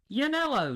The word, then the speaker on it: Yannello: Yannello, that's it.